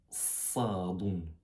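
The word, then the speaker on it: صاد: voir sans sans point se prononce sadon. Vous pourrez croire que c'est un c mais c'est un c mélangé un peu un D. Ça fait vraiment que ça soit grave avec un A grave après le C.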